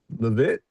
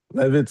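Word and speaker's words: Leavitt: White House press secretary Katherine Levit. These names are really hard to pronounce.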